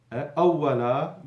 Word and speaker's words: أولا: أولا, fatha and alif, that's what you hear. It's pronounced with one fatha عند الوقف, when stopping. So if I stop, أولا, you see I've stopped, it's with one fatha.